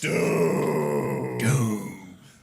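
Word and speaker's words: Dume: Doom. Which apparently is spelled D-U-M-E.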